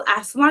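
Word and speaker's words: asthma: आपको पता है अस्थमा को अस्थमा नहीं कहते, इसको एस्मा कहते हैं, बट हमारी इंडियन इंग्लिश में अस्थमा कह के बहुत बार बुला गया है, तो इसलिए actually the pronunciation एस्मा, टीएच is very much silent.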